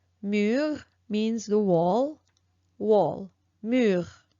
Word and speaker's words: mur: All right, so the fifth one is U, U, and here I chose the word mur. Mur means the wall, wall, mur, mur.